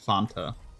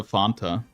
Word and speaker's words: Fanta: funa what's like Fanta I always said it font like almost like a fountain Fanta cuz um and I